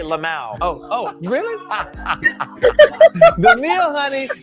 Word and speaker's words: LMAO: Is that how you say it? You actually say Lamau.